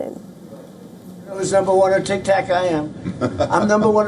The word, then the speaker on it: TikTok: While boasting of his popularity on social media, he also repeatedly mispronounced the name of TikTok as Tic Tac. Listen in. Who's number one on TikTok? I am. I'm number one on TikTok.